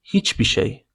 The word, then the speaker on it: hiçbir şey: In an informal way, you may pronounce it like hiçbir şey. Hiçbir şey. You omit r in the end of hiçbir.